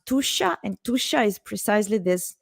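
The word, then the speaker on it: Tuscia: the heart of tusha this is pronounced tusha and tusha is precisely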